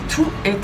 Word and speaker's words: toutes: Toutes remplacent les paires de chaussures. Il s'agit d'un pronom féminin pluriel, écrit T-O-U-T-E-S, prononcé toutes, et qui se place après la forme verbale simple.